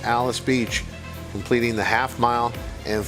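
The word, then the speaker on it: Alys Beach: Church Hill Downs I know it looks like allies Beach uh but Kate and Brar are informing us the correct pronunciation here is Alice Beach I believe that's her on the inside correct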